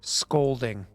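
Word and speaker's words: Skolding: Scolding. Okay. Like skull Yeah. with an O. Like honor, like scolding a child. Oh, okay. But with a K Yes. instead of a C.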